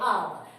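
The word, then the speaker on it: hour: भी हमारा कंसोनेंट है, लेकिन हम इसको भी क्या करते हैं, ये भी हमारा साइलेंट वर्ड है, इसको हम पढ़ते समय नहीं बोलते हैं। ये साइलेंट वर्ड होने के बाद हम इसको पढ़ेंगे आवर।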